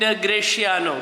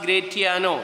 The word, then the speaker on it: Gratiano: all my efforts and graciano graciano is also pronounced as gratiano in some of the aversions it is pronounced like that graciano is the normal pronunciation but some places you will hear gratiano don't worry about this thing